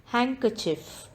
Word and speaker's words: handkerchief: word is h honor handkerchief d is silent in this word handkerchief doubt the letter b